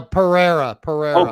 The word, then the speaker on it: Pereira: Is it Pereira? No, Pereira. Oh, Pereira.